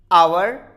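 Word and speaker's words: hour: Examples आप यहां देख सकते हैं, एयर, ओनर, आवर, इन तीनों में एच है वो बिगनिंग में आया और यहां पर साइलेंट होता है।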